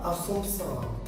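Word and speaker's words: Assumpção: তার উত্তর ম্যানুয়েল দা আসুনসাও।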